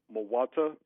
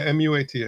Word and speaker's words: Muata: Muata, am I saying it correctly? Yeah, M-U-A-T-A.